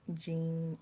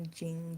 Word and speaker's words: Jean: But my grandmother name was Jean, like Jean, like a pair of jeans, traveling jeans, DNA jeans.